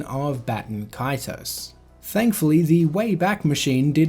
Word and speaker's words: Baten Kaitos: could present that would confirm the English pronunciation of Baten Kaitos, rather than the Japanese pronunciation of Baten Kaitos.